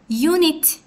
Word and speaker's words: unit: U hərfi ilə yazılsa belə unit samitlə deyilir.